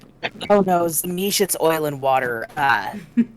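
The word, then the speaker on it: Tzimisce: oil and water uh is it zish I've I've always heard it pronounce zish some people pronounce it zami some people uh pronounce the sea as a hard sea it's they it's I think it's a regional thing surprisingly no excuse you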